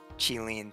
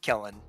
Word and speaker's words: Qilin: But it's definitely more like Hunduin and Qilin than like Hundun and Killin.